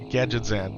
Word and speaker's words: Gadgetzan: Gadget Gadzan used to pronounce it Gadget Gadzan back in the day, too. Gad Gadgetzan.